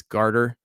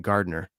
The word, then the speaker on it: garter: saying it wrong listen i understand it's garter but i don't like saying it that way okay i like saying gardner i know it's the wrong one but it is what